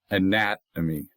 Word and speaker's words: anatomy: So again, anatomy four syllables, anatomy accent on the second of four.